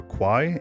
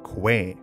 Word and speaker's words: Kwai: fun fact number one the correct tire pronunciation of the river Quai is not qu but Quay fun fact number two